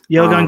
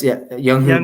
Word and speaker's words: Younghoe: Oh, that's Younghoe Koo. Is that how you Koo. say his name? Younghoe.